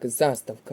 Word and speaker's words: заставка: склад у слові так заставка наголос на перший склад не підходить варіант фольга